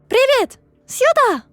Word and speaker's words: Привет, сюда: "Привет, сюда!" (pronunciation - privet, syuda!, roll the “r” + Hi, over here!)